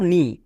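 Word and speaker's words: knee: এন থাকলে কে silent যেমন দেখো নি এখানে কে আছে এবং এবং কে এর পরে কি আছে এন আছে নিয়মে কি বলা ছিল কে এর পরে এন থাকলে কে সাইলেন্ট তাহলে এন ডবল ই নি এবার আমরা সবাই জানি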